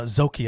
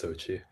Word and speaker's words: Zochi: Uh, Zoki, I don't know if I'm pronouncing that right, is the first PhD level agent. Sorry, Andy, is that not pronounced right? No, that's Zochi. Zochi.